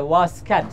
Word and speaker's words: واسکت: بریم بیشتر دربارش بدونیم تلفظ اصلیشم اینجوریه واسکت واسکت اون طی آخرش یه جورایی یه حرف تا می‌ذارن توی دسته دار می‌ذارن بهتون نشون میدم که یه باید یه جوری زبونو بچسبونید بالای دندوی بالا و ادا کنید